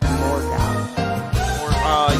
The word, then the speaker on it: Morgoth: I think it's just Morgoth. Yeah, you're right. It's Morgoth. I always like mispronounce his name for some.